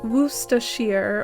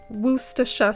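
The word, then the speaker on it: Worcestershire: I deserve it so it's w wacher or some people say Wacha sauce when Shire as is at the end of a place it loses it's sh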